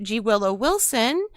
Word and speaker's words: G. Willow Wilson: The G is silent, as she said.